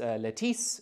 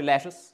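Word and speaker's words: Lettice: lettuce I know um it was spelled as if it should be pronounced Latisse but we have recordings they all called her lettuce that's what they refer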